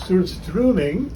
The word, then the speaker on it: surströmming: And I found out how to pronounce surströmming, because it's got an O in there, but you don't say O, the O sound.